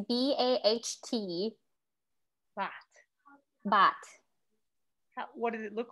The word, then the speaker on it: baht: money currency is called bot but yes but uh it's like b-a-t-h but you switch the th so it's b-a-h-t but what did it